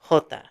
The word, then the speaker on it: jota: They call him Jota, because in Spanish, the letter J is pronounced Jota.